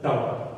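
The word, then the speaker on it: tau: This is symbol for torque pronounce as टाऊ। टाऊ नहीं है। टाऊ मत बोल ध्यान।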